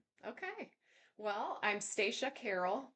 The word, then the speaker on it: Stacia: Well, I'm Staca Carol. Best way to know how to pronounce my name is the train stops at the station.